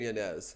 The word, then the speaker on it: Yanez: it's Adrian Yanez. That's how we should pronounce it.